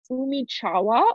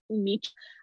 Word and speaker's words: Umichawa: It's Umichawa, or I've also heard it pronounced Umich.